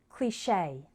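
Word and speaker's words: cliché: the next three words the final e sounds like a the first one is cliche this word is from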